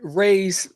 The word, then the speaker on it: Raze: Raze, rhymes with Craze.